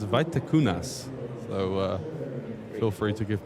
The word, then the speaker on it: Vaitekunas: If there are any Lithuanians watching, I will try to pronounce Paulius' surname. It's Vaitekunas.